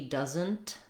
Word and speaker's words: doesn't: In the word doesn't, you'll often notice that when a native speaker says this word, he or she doesn't say that T sound.